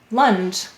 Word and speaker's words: lunge: underline the silent e why do we have a silent final e in lunge the g softened in ja because of the e let's read it lunge excellent the next word